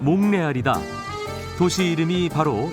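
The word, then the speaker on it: Montréal: 몬트리올의 프랑스어 발음은 몽레알이다.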